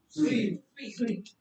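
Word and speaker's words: suite: That pronunciation is स्वीट। जो मिठाई वाली प्रोनाउंसिएशन है।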